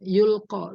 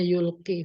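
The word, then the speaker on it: يُلْقِي: Nufus ya bisikan yang yulqo dilempar ke dalam jiwa sebentar ini alladzi ee eh yulqi ya jadi bacanya yulqi Fin Nufus khawatirarri wasu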